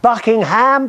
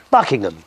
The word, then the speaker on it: Buckingham: 20th of April uh we were talking about Buckingham Palace it's not Buckingham Palace it's bucking Palace Buckingham and ptim 56 says yes Chris I absolutely